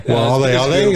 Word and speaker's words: Waialeale: Waialeale, that's how you say it. Oh, Mount Waialeale. I think that's correct.